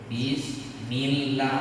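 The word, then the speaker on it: بسم الله: Bismillah. Tak boleh bismillah. Karena sebelum lafaz Allah, kalau berbaris bawah itu baca tipis.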